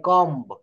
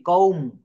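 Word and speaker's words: comb: এটা ভুল বলি দেখছি অনেকে বলে যে প্লিজ গিভ মি মাই কম্ব কম্ব কিন্তু এখানে বি টা উচ্চারণ করা যাবে না কম শব্দের অর্থ হচ্ছে চিরুনি কওম কম সি ও এম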